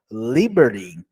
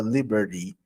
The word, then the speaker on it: liberty: Esse final da letra T é muito comum no inglês americano, tá? Então você não vai pronunciar liberty, no inglês americano. Você pode pronunciar no inglês, liberty. Você pronuncia no inglês britânico e no inglês americano, você pronuncia liberty. É mais essa redução mesmo, como se fosse falar um the liberty, liberty, liberty. E alguns falam liberty, tá?